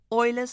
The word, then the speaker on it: Euler: Then E, you know, Euler's number, spelt with an E, pronounced like oil.